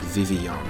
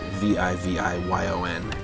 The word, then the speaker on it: Vivillon: Yeah, I think it's supposed to be pronounced like Vivillon, because in Japanese the name is Vivyon, and this is, like, Pokemon X and Y is greatly...